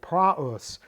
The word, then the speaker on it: praus: forming a dip thong we are to pronounce the alpha separately from the opsilon and not merge them into a dip thong so praus uh Meek gentle Pleasant